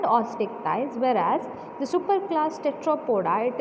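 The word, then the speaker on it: Osteichthyes: One is chondric thighs and ostick thighs. How to pronounce? Chondric thighs and ostick thighs.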